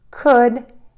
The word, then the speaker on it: could: The words again are should, could, and would. Keep in mind, we are not going to say the letter L that is in these three words.